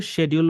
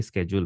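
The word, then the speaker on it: schedule: স্কেজুয়াল সো এই শব্দটা এস সি এইচ ইল এটার উচ্চারণ নিয়ে অনেক অনেকে কনফিউজ হয়ে যায় স্কেজ হ্যাঁ তো এটা কিন্তু শেডিউল বললেও কোন সমস্যা নাই দুইটাই কিন্তু রাইট অনেকে শেডিউল বলে অনেকে স্কেডিউল বলে আমেরিকান এবং ব্রিটিশ প্রনান্সিয়েশনের ডিফারেন্স দুইটার উচ্চারণই রাইট ওকে সো স্কেডিজউল বললেও ঠিক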